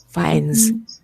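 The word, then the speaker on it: Fiennes: humor so you know the pronunciation of his surname is fines fines where is where is fines um yes I found it in the in Wikipedia and it's find ah finds finds he has actually he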